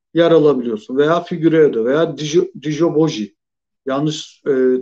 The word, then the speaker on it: Djilobodji: Dijoboji. Tamam. Teşekkürler kardeşim uyardığın için. Telaffuzunu tam bilmiyordum.